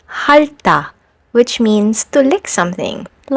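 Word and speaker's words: 핥다: We also have this combination of final consonants, and when it happens, you only need to pronounce the first one, which is l, like in the verb halta, which means to lick something, like an ice cream or a popsicle.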